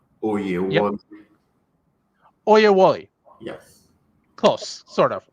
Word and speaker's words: Oyewole: I know I mispronounced that, so could you please pronounce it properly first? Thank you. It's Yep, Oyewole.